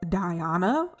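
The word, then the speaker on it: Diyana: i am so sorry my name is diana um that is spelled d-i-y-a-n-a it's a little different um my mom wanted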